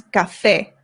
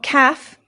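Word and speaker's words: café: So, our first one is cafe. Cafe. This is coffee. Cafe. Not caff. Cafe. No. Ga. The a makes an a sound.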